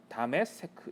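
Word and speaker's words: דמשק: 이 다메섹은 다메세크 이렇게 읽거든요.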